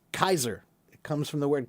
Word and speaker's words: Caesar: The word is supposed to be pronounced Kaiser. And that should make a lot more sense because in German they have the word for king and that word is Kaiser.